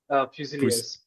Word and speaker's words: fusiliers: Fusiliers.